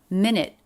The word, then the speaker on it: minute: and then back up minute of linked together with a flat t minute of my life